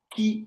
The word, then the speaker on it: ki: Chi, on le dit ça, on prononce ça en chinois, ki en japonais.